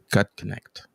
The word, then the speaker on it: Gutknecht: In fact, I butchered it before we went live, and I'm glad that you corrected me. Gut connect.